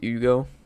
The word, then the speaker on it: Hugo: not they much obliged Ugo I'm just going to change the pronunciation on the Fly father Shion and you